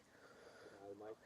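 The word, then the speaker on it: G'day mate: So, you pronounce good I and might as in like strong like mighty. I might.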